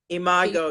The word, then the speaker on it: imago: Yes, imago, Can you yes. a little bit about that? Because again, that was new to me, and I was like, oh, what is that? Share a little bit about imago.